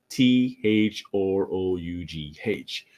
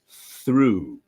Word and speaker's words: through: integration now you can see the writing is t h r o u g h but really the pronunciation is through through because you have the verb to throw